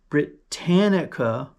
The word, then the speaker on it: Britannica: Brit as in British Britannica silver coins, 2 lb silver coins.